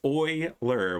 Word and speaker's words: Euler: very inconvenient overlap um it's pronounced Oiler well that's not how you spelled it so I don't know why didn't you just spell it that way if that's how it's pronounced gosh Kaylee maybe you